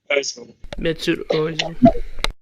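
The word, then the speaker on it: Mesut Özil: Mesut Ozil. Okay, Mesut Ozil.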